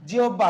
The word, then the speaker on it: জিহ্বা: আহ্বান শব্দের উচ্চারণ কি? আহ্বান। আহ্বান। তারপরে দেখেন যদি বলা হয় কি জিহ্বা, কি বলা হয় জিহ্বা। জিহ্বা, তাহলে দেখেন হয় বয়ের পূর্বে কি রস্যি ইকার আছে না নাই?